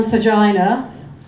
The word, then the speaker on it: Sergina: now yeah I am sergina rhymes with vagina goes quite well after